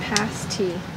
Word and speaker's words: pasty: It says pasty, pronounced pasty. Beef, chicken, or veggie?